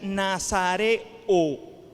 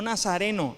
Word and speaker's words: nazareo: La palabra que se usa allí para apartado es una palabra que se pronuncia nazareo, no nazareno. Nazarenos son los que nacen en Nazaret.